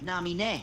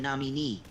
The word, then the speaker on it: Naminé: The game does say her name more like Naminé rather than Namini. It's a common mispronunciation, but don't worry.